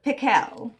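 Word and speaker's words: Pickell: pickles actually his name was dr. pickle with the accent on the second syllable but that wasn't why everybody called him dr.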